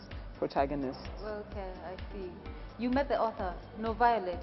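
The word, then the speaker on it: NoViolet: you met the author no violet is how to pronounce her name no violence yes yes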